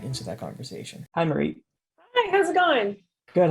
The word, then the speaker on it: Maritte: Hi, Maritte. Hi, how's it going? Good, how are you? Good. You can actually call me Marty. It's Marty? yeah, everyone it's pronounced Maritte, but I like Marty better.